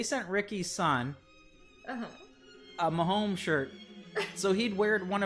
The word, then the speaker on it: Mahomes: Am I even pronouncing that correctly? I think you are, because I remember for a while I kept thinking people were saying Holmes, like Holmes Road that we used to live on.